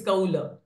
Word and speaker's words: कौल: Okay, K is kaula. Short a for la. No, it's kaula.